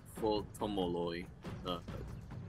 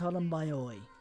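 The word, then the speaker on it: Πτολεμαῖοι: Well, yeah, it's just the Greek for Ptolemies is Ptolemoi. As far as I know, Pi and Tau would have been pronounced as Pi and Tau. So Pt, rather than...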